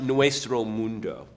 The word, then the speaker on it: Nuestro Mundo: Tell me about, and tell me if I'm pronouncing this correctly, Nuestro Mundo? Tu español es horrible. I don't speak German. But so I don't know what you just said. It's Nuestro Mundo.